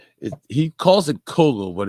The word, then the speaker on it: Cowgill: how you spell his name he calls it Coco but it's spelled calgill well because it oh you can